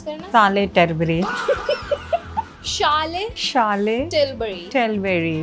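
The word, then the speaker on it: Charlotte Tilbury: शार्लेट टिलबरी का mummy pronounce करना। शार्लेट टिलबरी। शार्लेट टिलबरी।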